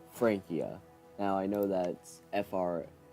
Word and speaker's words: Francia: getting this wrong but Francia is pronounced Frankia now I know that